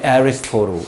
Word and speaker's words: Aristotle: 발음이 Aristotle 이렇게 되죠.